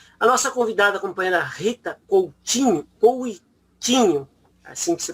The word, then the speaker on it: Rita Coutinho: A nossa convidada, a companheira Rita Coutinho, assim que se pronuncia, é graduada em Ciências Sociais pela Universidade